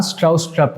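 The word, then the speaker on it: Stroustrup: तो इसको डेवलप किया है जॉन स्ट्राउस्ट्रप ने, ठीक है, यही उसका प्रोनाउंसिएशन होता है।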